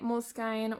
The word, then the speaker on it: Moleskine: So this is my Moleskine or Moleskin journal, depending on how you want to pronounce it, and it's a little bit roughed up now.